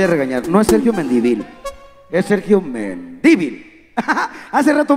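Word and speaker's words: Mendívil: Mi apellido para todos ustedes, póngale acento en la primera I. Es Sergio Mendivil.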